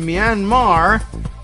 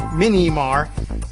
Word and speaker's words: Myanmar: At the conference, Flynn was asked why the violent and deadly military coup in Myanmar, which the question poser pronounced Minimar, couldn't happen in the United States.